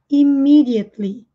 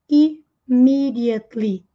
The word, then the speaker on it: immediately: Vejam que aqui nós temos esse E que nós não pronunciamos. E esse primeiro E tem som de I, imi. Immediately. Tli, sem falar o E. Imagina que ele não está ali.